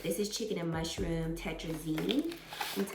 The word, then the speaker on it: tetrazzini: This is chicken and mushroom tetrazzini, that's how you say it.